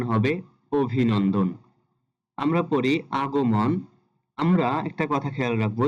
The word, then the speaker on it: আগমন: হবে অভিনন্দন আমরা পড়ি আগমন আমরা একটা কথা খেয়াল রাখবো যেখানে আমরা মন দেখবো মন মন শব্দটার উচ্চারিত হবে মন যেমন এখানে আগো মন আছে এখানে সঠিক উচ্চারণটি হবে আগো মন যেখানে মন থাকবে সেখানে